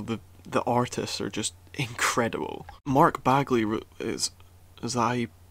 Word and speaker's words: Mark Bagley: Mark Bagley is that how you pronounce his name? Mark Bagley!